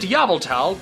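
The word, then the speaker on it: Yveltal: Oh, you think I pronounced that incorrectly? Well, you must be new here. Here on this channel, we pronounce it Yavultal because that is how the creature itself says it should be pronounced.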